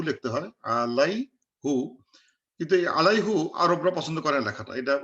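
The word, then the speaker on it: عَلَيْهِ: So they say no, don't say আলাইহু, বাট সে আলাইহি, same thing. বাস এই আলার জন্য উচ্চারণ সুবিধার্থে দে কল ইট আলাইহি। সো আমরা আলাইহু না বলে বলবো আলাইহি।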